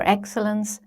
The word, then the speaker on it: excellence: Let's take this sentence: Aim for excellence, not perfection. We have two multi-syllable words in this sentence: 'excellence' and 'perfection'. In 'excellence', the first syllable is stressed: EX-cel-lence.